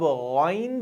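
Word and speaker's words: غين: ख अब गन जो है ये भी मोटा अल्फाबेट है। लेकिन जब हम इसको प्रोनाउंस करेंगे तो ये ग ये वाला साउंड नहीं आना चाहिए। सो it should be गन।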